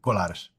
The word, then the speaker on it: Colares: I can't pronounce that. So you did it great. Colares.